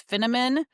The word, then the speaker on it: Finneman: Um, but I usually say it's Finnamon rhymes with cinnamon, but I'm not a spice girl.